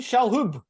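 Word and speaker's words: Shalhoub: film we're talking about as Arthur criticos pony shalhub that's how you say his name famous for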